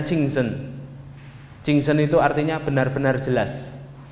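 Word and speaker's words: 清真: Ini bacanya Jingzhen.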